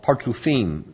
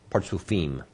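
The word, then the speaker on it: partzufim: parsouf is yes but there's another word called partufine now i would normally spell this if i was going to spell it in what we call heblish in other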